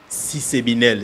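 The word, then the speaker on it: SYSCEBNL: qu'on appelle CCBN CCBNL si c'est binel c'est comme ça qu'on on prononce ça c'est le système comptable applicable aux entités habitent non lucratifs.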